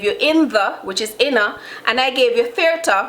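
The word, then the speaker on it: inna: We say inner, we turn it in a 1 word.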